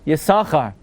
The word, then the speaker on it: Yissachar: always follow Ben OSHA following benassia would mean yasaka the other opinion has been naftali you always say two sins but even within two